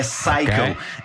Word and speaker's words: Psycho: então ainda é pior em inglês p o p é mudo é Psycho e o que aconteceu